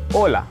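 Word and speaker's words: hola: तो हम कहते हैं हेलो, नमस्कार और हाय। इसको स्पैनिश भाषा में कैसे कहते हैं? ओला। ओला लिखा एच ओ एल ए होता है, होला नहीं होता है, एच साइलेंट होता है।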